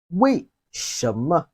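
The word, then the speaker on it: 为什么: is number eight why why in chinese is pronounced as we sham now let's move to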